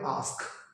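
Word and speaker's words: ask: সেটা হচ্ছে প্রায়শই আমি স্টুডেন্টদেরকে বলতে শুনি AAKS, আক্স, নট আক্স, এটা হবে আস্ক।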